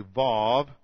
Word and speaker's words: vav: Here's a, this is called a vav. Now the reason you call it, I pronounce the W's like a V, is because of so much Germanic scholarship, and that's the system of pronunciation I was taught.